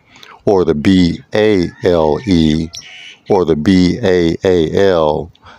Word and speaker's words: Baal: That's the one bull, that's the B-L-E, or the B-A-L-E, or the B-A-A-L, pronounced Baal.